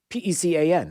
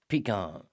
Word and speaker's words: pecan: P-E-C-A-N. How do you pronounce that word? Pecan.